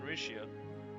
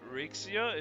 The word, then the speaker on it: Rixia: Uh, I I think the main reason why I kept pronouncing it Rixia is because I did realize it was Chinese, but now I'm just like I'm It was obviously Chinese.